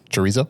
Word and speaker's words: chorizo: They did like chorizo. There's 4 different meats. Say that again. Wow. Chorizo. Chorizo. Oh, okay. Is that how do you say it? Yeah, chorizo.